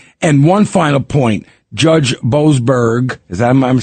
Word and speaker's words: Boasberg: him, to saying, and one final point, Judge Boasberg, I'm saying it right?